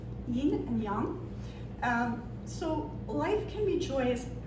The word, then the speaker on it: Yīn and Yáng: The next poem, the Mandarin pronunciation, a lot of people say yin and yang. The Mandarin pronunciation is yin and yang.